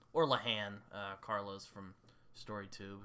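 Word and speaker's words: Lehane: my favorite modern Noir author is is Dennis lahane or leahan uh Carlos from story tube who is Irish said it's pronounced lahan but spell it l a l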